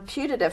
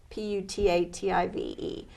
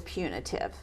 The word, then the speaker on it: putative: you produce who's the biological father okay on putative fathers the first slide kind of goes to that potato potato tomato tomahto you know it's it's how do you pronounce the word PU T a TI ve and my answer is kind of well it